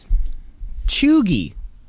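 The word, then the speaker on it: cheugy: word for you here um and it is choogie can you spell that i will spell it for you uh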